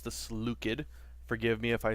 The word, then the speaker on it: Seleucid: What's up, YouTube, and welcome to the Seleucid, or as properly pronounced, the Seleucid.